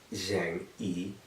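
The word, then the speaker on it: 正义: You have your name in Chinese, how to write it, proper stroke order, and how to say it, Zheng Yi.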